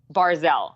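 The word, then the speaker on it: Barzal: And I always say his name wrong, and I blame my mom for this. Barzell. I'm saying it right that time, right? Yes, Barzell.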